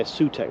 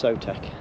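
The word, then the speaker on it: Sewtec: But a lot of people say Sutec, but it's not, it's Sotec.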